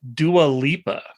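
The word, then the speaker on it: Dua Lipa: According to the way it's been explained to me, it's dualipa. Duual Lia.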